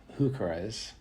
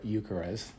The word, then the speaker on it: heuchera: And then these are some really cool wild berry heucheras, or eucheras, whichever way you want to pronounce those.